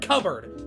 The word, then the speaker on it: cupboard: shelves boom fixed it cupboard not cup board there is no P that is pronounced and you don't pronounce